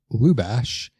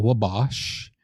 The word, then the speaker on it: Lubash: My name is Jeremy Lubash, not Wabash. Lubash, just like it's spelled. Why are you looking at me and saying that? I'm sure you're one of the many that have butchered my last name. I feel like it's the easiest last name ever, but I get everything from LaBush to LaBosh. That's L-U, Lou.